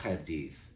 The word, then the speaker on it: Chaerdydd: I per dir, per exemple, entre Londres i Cardiff, diem rhwng Llundain a Chaerdydd, amb CH, que es pronuncia com la J en castellà.